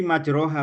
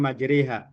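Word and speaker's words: مَجْرَاهَا: Tulisannya bismillahi majroha wa mursaha tapi bacanya bismillahi majriha.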